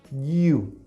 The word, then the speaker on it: you: Pero es la segunda persona y la pronunciamos con la lengua bien cerquita del paladar, decimos you, ¿ok?